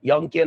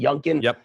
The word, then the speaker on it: Youngkin: seeing the outcome every poll shows the Republican youngkin I think is his name is how you pronounce it junkan he's leading in every poll and McAuliffe has